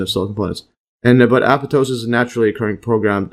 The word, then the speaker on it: apoptosis: Uh in contrast uh apoptosis see the pronunciation here aptosis.